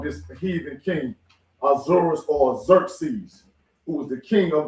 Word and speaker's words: Xerxes: Also known as Xerxes is how they say his name. Xerxes.